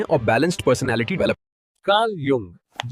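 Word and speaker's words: Jung: लेकिन जो लोग इससे समझकर इंप्रूव करते हैं वही लाइफ में आगे बढ़ते हैं और balanced personality develop Karl यंग जिसका जे एक्चुअली एज प्रोनाउंस होता है नियो एनालिटिकल थ्योरी ऑफ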